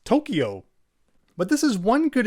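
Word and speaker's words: 東京: Tokyo, Tokyo, Tokyo, versus Tokyo, Tokyo. You may also notice how it's actually the U sound in this case, which is extending the O vowel sound.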